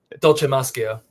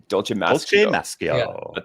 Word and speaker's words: Dolcemaschio: Dolce Mascio. Dolce Mascio.